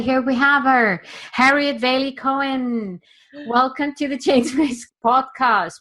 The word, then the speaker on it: Waley-Cohen: do you say your last name Harriet waily waily cohan that was not a very professional way of introducing my guests but here we have her Harriet Valley cohan welcome to the chasers podcast where we can